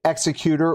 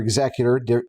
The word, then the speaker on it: Executor: Both pronunciations may be linguistically valid, but only one comes with a cape. So, next time you hear someone say executor or executive differently than you do, remember they may not be wrong.